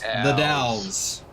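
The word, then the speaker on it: The Dalles: the delis okay that's pronounced the Dows owls all right now think Dallas without the S at the end or e or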